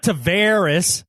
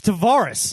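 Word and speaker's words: Tarvaris: one I haven't no it's not Taveras it's Davaris tavaris yeah I thought that's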